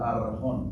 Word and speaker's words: archón: La palabra para príncipe allí es archón, que se pronuncia arjón o arjón.